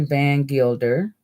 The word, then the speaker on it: Van Gilder: Now, this article was written by Larry Van Gilder, that's how you say his name, on January 14th of 2020.